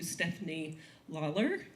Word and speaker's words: Stefanie Lalor: So, that said, let me turn the presentation over to Stephanie Lawler.